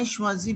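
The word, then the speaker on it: choisis: will say jesus why shwazi because s would not get pronounced at the end repeat it please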